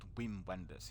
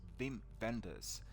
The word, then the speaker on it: Wim Wenders: Wim Wenders, I should pronounce it properly in German way, should I not? Not Wim Wenders, it's Wim Wenders.